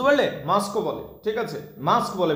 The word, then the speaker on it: masque: আচ্ছা, মস্ক কি জিনিস? এক ধরনের নাটক, যেটা মস্ক এক ধরনের নাটক, বুঝতে পারলে? মাস্কও বলে, ঠিক আছে? মাস্ক বলে, বেসিক্যালি বলতে মস্ক নয়, মাস্ক বলে।